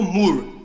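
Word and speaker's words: Moore: mur kentak é assim e como é que pronuncia não o nome dele é Dr mur m o o r e sim ah D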